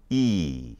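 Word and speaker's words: 一: this but this is their one and it's pronounced e can you say e okay that's one -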